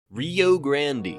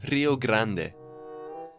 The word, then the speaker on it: Rio Grande: Even where the Texans couldn't control or had no jurisdiction in, like near the, Rio Grande. Sir, it's pronounced Rio Grande.